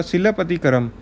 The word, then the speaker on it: Silappatikaram: Now we will study the first, the Silappatikaram. This is the pronunciation.